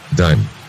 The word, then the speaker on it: dime: Dime. Silent E makes the first vowel say its name. Take dim at E, and you've got dime. D-I-M-E. The I says its name.